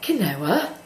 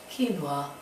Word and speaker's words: quinoa: and seen something um and thought Canoa Canoa it's um you know quu at the beginning don't ask me to spell right now I'll show you later um but it's actually pronounced and I love it I'm you know I'm a bit of a Mrs bouquet but it's called quinoa um and although um